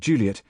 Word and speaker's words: Juliet: And it my tolerance snapped altogether the other day when I heard an English broadcaster refer to Shakespeare's Romeo and Juliet with Juliet given last syllable stress treatment.